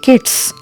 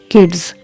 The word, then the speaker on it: kids: If you say kids, that's again incorrect. It is kids.